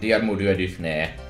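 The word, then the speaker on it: Diarmuid: not cold so who cares instead we get dear moody which is objectively the correct way to pronounce the name don't that's me no i'm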